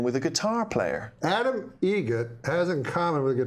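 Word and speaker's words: Eget: Egret. Spelt differently. Like the bird. That's Egret. Do you know what Adam Egret has in common with a guitar player? Adam Egret has in common with a guitar player.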